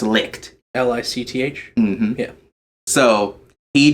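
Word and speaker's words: Leitch: It is pronounced Licht.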